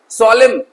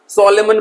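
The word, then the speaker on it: solemn: है ना सोलेम गंभीर कुछ बच्चे इसे गलत प्रोनंसिएट करते हैं सॉलेमन पढ़ते हैं क्या पढ़ते हैं सोलेमन तो प्यारे बच्चों एन को आपको को क्या करना है? इसमें साइलेंट कर देना है। एन को प्रोनंसिएट नहीं करना है। ठीक है? एस ओ एल ई एम बस पढ़ने में इतना ही आएगा। एन साइलेंट रहेगा। सॉलेमन मत पढ़ना।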